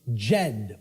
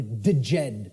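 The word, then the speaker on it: Djed: was known as the the Jed or the deed pillars depending on how certain people pronounce it and these Jed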